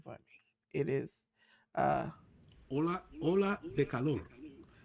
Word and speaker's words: Ola de calor: I do not know how to pronounce it, so J News can pronounce it for me. It is uh Ola de calor. Ola de Color.